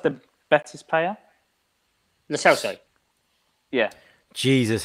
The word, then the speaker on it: Lo Celso: Selos, the Betis player? Lo Celso. Yeah. Jesus, how Lavi's pronunciations get worse.